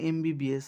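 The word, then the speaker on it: MBBS: একই রকম ভাবে এন এমবিবিএস এখানেও এম উচ্চারণ করতে গেলে প্রথমে এ আসছে এমবিএস এ সাউন্ড আসছে ওয়ার্ডের শুরুতেই তাই এখানে এন এমবিবিএস আবার একই রকম ভাবে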